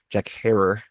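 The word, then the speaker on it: Jack Herer: I'm smoking like I said J1 Jack rare skunk number one Jack her as it's properly pronounced actually.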